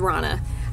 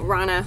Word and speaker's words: Rhonna: The rest is Rana.